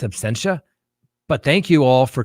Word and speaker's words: absentia: And yes, I could have swore the other day I said absentia. Some people said I said abstentia. It's absentia.